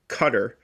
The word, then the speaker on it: Qatar: The government of Qatar, uh, which is how it's pronounced, is my apologies.